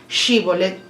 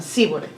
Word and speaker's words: Shibolet: En un sacerdote posiblemente, recuerden que cada tribu tenía su, como vemos anteriormente en los de Efraín, que ellos tenían otra manera de pronunciar Shibolet, pronunciaban Sibolet.